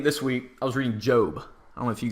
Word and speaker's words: Job: It's actually spelled Job. Why? I have no idea. I don't know how that's a long O. It's literally, the book is spelled J-O-B. Literally, I don't know who translated the Bible. I don't know if they forgot an E. But it's pronounced Job as far as I know, unless every pastor has been messing with me.